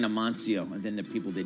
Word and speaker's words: Amancio: Also, in Spain, the C is pronounced like a TH. So it's, and the Z, so it's Amancio.